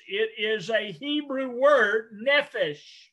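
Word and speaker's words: נֶפֶשׁ: the word soul and again if i can pronounce these words it is a hebrew word nephesh nephesh nephesh and it is dealing with the being a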